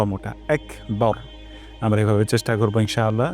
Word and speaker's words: আকবার: বলি বার হবে না এখানে বা চিকন র মোটা বার বার এটা অবশ্য চেষ্টা করতে